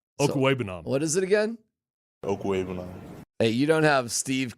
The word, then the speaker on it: Okwuegbunam: Okwuegbunam. Hey, you don't have Steve calling him whatever the hell he was calling him. Okwuegbunam.